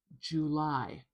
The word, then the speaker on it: July: So, if you can, try to use that schwa and put the stress at the end.